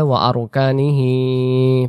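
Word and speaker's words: وَأَرْكَانِهِ: আর দমটা আমরা অনেকে যদি কন্টিনিউ ভাবে কোনো পরবর্তীতে শব্দ পড়ি তাহলে আমাদেরকে বলতে হয় ওয়া আরকানিহি, বলতে পারা ওয়া আরকানিহি, এটাই হলো শুদ্ধ উচ্চারণ।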